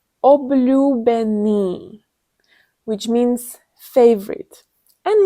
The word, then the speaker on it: Obľúbený: Obľúbený, which means favorite. And let's break it down. We will start from the end. Ni. Benny. Ľúbený. Obľúbený.